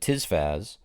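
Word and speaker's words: tisfas: these so you notice i said tis faz that's because hoon is the world's only spoken programming language seems like a sort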